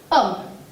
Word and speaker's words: homme: Je dis homme. Homme, c'est un mot qui commence par un H muet. Je ne le prononce pas.